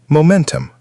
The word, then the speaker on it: momentum: Next word. Momentum. Stress on the second syllable.